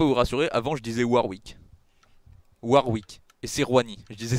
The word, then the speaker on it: Warwick: je dis NON NON avant je disais varv pardon maintenant je dis warwi bien non je disais